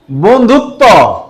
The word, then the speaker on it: বন্ধুত্ব: আছে ওকে আচ্ছা বন্ধুত্ব বন্ধুত্ব এসো বন্ধুত্ব করি এই বফলা যদি এতক্ষণ প্রথমে ছিল দেখো এজন্য ব ফলার উচ্চারণ হয় নাই কিন্তু যখন শেষে থাকে তখন ব ফলার উচ্চারণ হয় কিন্তু বর উচ্চারণ হয়